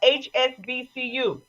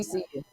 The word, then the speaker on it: HBCU: He is now the coach of a HSBCU. I said it right. HS. No, you didn't. HBCU.